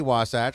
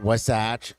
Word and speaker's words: Wasatch: of it because uh we are very happy to say wasach because as we travel it's not wasach not wasach or any of those